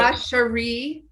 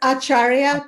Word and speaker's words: Acharya: Ashari. It's Acharya Cha, as in like. Gosh, see, I was practicing. Acharya.